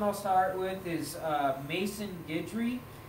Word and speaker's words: Maison Guidry: start with is uh mason guidry so mason is spelled m-a-i-s-o-n and then guidry g-u-i-d-r-y okay so mason guidry phenomenal drummer um another